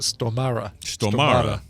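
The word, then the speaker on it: Stormare: and uh and says here's how you pronounce it you pronounce it stomara okay okay he was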